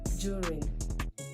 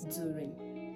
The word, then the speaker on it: during: endure endure thank you not endure it is pronounced as enure and this is called during like when you want to say during the weekend that is what it is called during not during I don't want to hear during please it